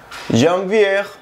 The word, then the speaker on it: janvier: mes de enero se escribe janier pero se pronuncia jvier jier janvier y el mes de febrero se pronuncia Fe